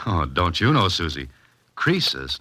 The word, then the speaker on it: Croesus: Croesus, not Crisis, was a rich king.